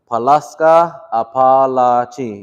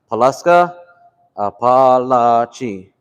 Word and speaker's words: Palaska apalachi: So you notice how Choctaw is kind of like a rhythm. You want to say it like that rhythm. So what I was helping him do was Palaska apalachi.